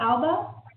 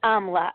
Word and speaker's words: Amla: is uh amla okay you said what Alba it's amla amla amla yes you said it right okay so I'm wondering